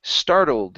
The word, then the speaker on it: startled: uh next here is startled instead of startled startled startled like startled ah startled okay yeah so we're going to use that old sound for the L right and then add the D okay so not at